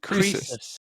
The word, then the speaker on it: Croesus: So Jesse is on Twitter as, how do you actually pronounce it? Croesus? Croesus.